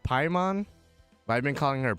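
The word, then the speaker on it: Paimon: uh I know I know her name is pronounced pymon but I've been calling her payment so this is my this is my this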